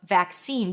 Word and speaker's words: vaccine: To pronounce vaccine, you start with a v sound, then the as in cat. Vac, a c- sound, and then seen as I've seen you before. Scene. A high e.